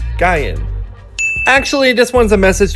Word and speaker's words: Gain: to determine the pronunciation however I think the newer k-pop fans think her name is pronounced gain and not what it's supposed to be guy in actually this one's a